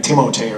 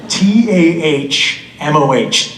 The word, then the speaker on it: Tahmoh: strangest thing I said teachers do that call me like timotei or something tomorrow tah MOH Channel ah you're an